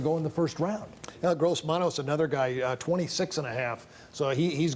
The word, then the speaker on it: Gross-Matos: I'm not even sure his name or how to pronounce it. But I think the guy from Gross-Matos. Yeah. Gross-Matos. Yeah. Gross-Matos.